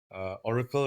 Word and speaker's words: Ohrykel: Okay, they can contact me on my Facebook page or my Instagram page, Oracle Restorations. But Oracle is not spelled as Oracle as the normal way it's spelled. It's OHRYKEL. restorations.